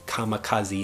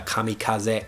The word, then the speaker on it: kamikaze: in Japanese and also we have come kamikaze kamikaze in English which is a kamikaze in Japanese this is for someone